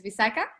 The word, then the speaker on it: Visakha: So my first name is Visakha.